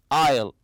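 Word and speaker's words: aisle: the word Isle and remember there's a silent s very good it means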